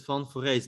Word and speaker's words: van Foreest: you say it yeah i i pronounce it fun for race but i think it's